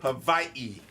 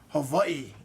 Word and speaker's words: Hawaii: Havi. Hawaii is the correct pronunciation.